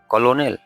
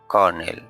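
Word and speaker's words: colonel: সি ও এল ও এনই এল কলোনেল নো এটার সঠিক উচ্চারণ হচ্ছে কর্নেল কর্নেল সামরিক পথ এই শব্দটার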